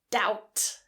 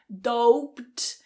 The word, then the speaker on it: doubt: Quite a few people get influenced by the spelling and they say doped and pronounce the B as well. So make sure the B is silent and that vowel is an ow.